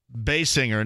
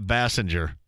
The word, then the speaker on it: Basinger: That was some Kim, I've always pronounced it Basinger, not Bassinger.